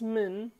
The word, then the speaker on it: min: This min, which is written in Latin, this I doesn't pronounce. It's called bzroke in Kurdish. It doesn't pronounce.